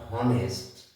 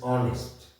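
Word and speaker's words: honest: consonant vowel and consonant এখানে আমরা হ উচ্চারণ করছি না দিস ইজ নট হ অনেস্ট this is অনেস্ট হি ইজ এ অনেস্ট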